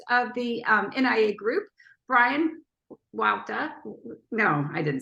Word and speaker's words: Huayta: My last name is pronounced Huayta, so be Bryan Huayta.